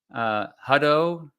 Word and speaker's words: Hutto: Yeah, I pronounced it wrong. It's Hutto, not Hutto. I said Hutto in the video, and a few people told me about that.